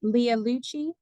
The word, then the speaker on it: Leah Lucci: I just wanted for make sure I'm pronouncing your name correctly. Is it Leah Lucci?